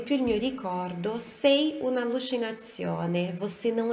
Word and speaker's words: un'allucinazione: Non sei più il mio ricordo, sei un'allucinazione. Você não é mais uma minha lembrança, você é uma alucinação. Olha aqui como a pronúncia, allucinazione. Isso daqui parece uma palavra só, né?